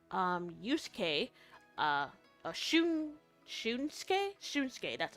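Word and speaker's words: Shunsuke: Shunke, that's how you say it.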